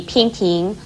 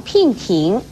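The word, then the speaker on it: 娉婷: 美而言，所以娉婷不可以念成聘婷，而驰骋也不可以念成驰聘。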